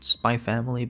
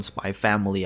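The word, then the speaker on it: Spy × Family: I'm going to pronounce it SpyXFamily because, well, let's be honest, if you can pronounce Hunter Hunter without the X, you can pronounce SpyXFamily without the X.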